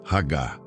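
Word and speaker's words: הגה: Para entendermos a natureza desta meditação, podemos olhar para a palavra hebraica ragá. Se pronuncia ragá.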